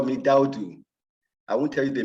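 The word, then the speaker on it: Daoudu: as you know, but my friends call me Daudu.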